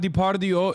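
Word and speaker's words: Depardieu: usbekistan the I said depardo that was a very Turkish moment Gerard diardio is how you say it in Turkish Gerard depau he was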